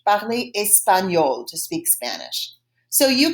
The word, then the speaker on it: espagnol: And espagnol is pronounced the same in French as in Spanish. Parler espagnol, to speak Spanish.